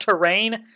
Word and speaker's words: Torne: It's apparently pronounced terrain, Terrain.